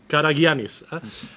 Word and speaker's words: Karagiannis: all my left there is yannis karagiannis yes karagiannis must admit I had to practice last night and I had to ask him exactly how to pronounce it well mr.